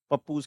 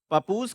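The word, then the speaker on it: Pappus: of Alexandria है ना मे बी my pronunciation इ not that good spelling E पी ए पी पी यू एस पपूज कह सकते हो है सो पपूज का जो काम था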